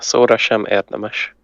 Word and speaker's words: szóra sem érdemes: Yeah, szóra sem érdemes.